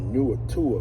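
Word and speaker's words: Nuatua: And then she joined a band called Newer Tour, which is spelled N-U-A-T-U-A, called Newer Tour.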